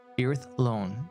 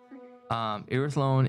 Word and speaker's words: Irithlon: Irithlon is how you pronounce it, so everyone's aware. Irithlon. Irithlon is the part of a elvish world.